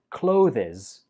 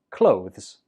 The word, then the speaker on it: clothes: this link above so we pronounce this word clothes the last syllable is a weak Z clothes a lot of students pronounce this as clothes but that's incorrect it's always just clothes in a sentence I